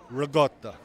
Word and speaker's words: ricotta: I want to ask you being an Italian, do you pronounce it raotta or ricotta? Just want to know. Raotta.